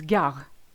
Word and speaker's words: gare: At the end of a word, which is longer than one syllable, is gare. Suddenly it's silent.